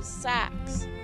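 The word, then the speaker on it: seax: Siaks. Old English pronunciation is also sax.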